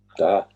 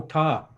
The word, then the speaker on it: ta: So you may pronounce Da. no. Right? Da. Yeah. Oh, ta. No, ta. Yeah. Ah. Da. Like in the ta in dusty. Ta.